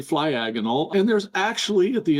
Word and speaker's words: Flyagonal: No, you're pronouncing it correctly. Flyagonal.